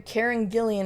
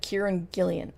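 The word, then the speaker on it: Kieran Gillen: I keep hearing Karen Gillian instead of Kieran Gillian. I Yeah, it's probably my non-Irish accent. Kiran Gillan.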